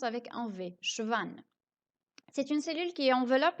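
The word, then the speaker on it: Schwann: et 2n à la fin mais ça se prononce avec enlevé schwan c'est une cellule qui enveloppe la fièvre et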